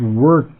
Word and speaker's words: worked: and the word is worked now I want you on pronunciation to not try to pronounce Eed uh because it Ed actually becomes in this word like a t now listen to me